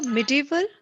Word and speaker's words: medieval: divide into okay so medieval medieval which is correct medieval india medieval india medieval and uh medieval both are the kind of medieval is the accepted pronunciation you can read it like medieval that's it medieval yeah